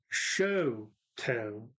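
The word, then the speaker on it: Chouteau: one that stays there so you have toe no it is show toe oh no Chateau Shoto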